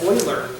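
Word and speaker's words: Euler: was quite painful and it turns out that boiler you eat EU le AR you learn its whaler look like a fool if you don't say it right boylar keep looking for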